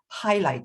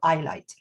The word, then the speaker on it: highlight: For example, the word you use, highlight, is actually highlight instead of eyelight. So it has an H.